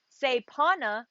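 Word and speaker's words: kshepana: i chose it's called sepana mudra it's spelled k-s-e-p-a-n-a say pana mudra and this is how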